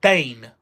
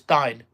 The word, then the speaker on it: Dyne: Or Dane. Dine or Dean. No, it's Dine. I'm sure it was Dine.